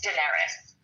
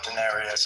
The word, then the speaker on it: Daenerys: Um I know, but I just I'm like like it's Daenerys. Oh, Daenerius. I added extra syllable.